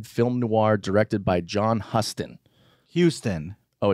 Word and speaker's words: Huston: an academy award film noir directed by john huston houston oh it's houston houston yeah it's jennifer houston's dad yes oh wow and grandfather of jack houston houston houston who's with you guys well there's